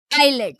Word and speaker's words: islet: Islet or islet. It is islet. So S is silent letter here.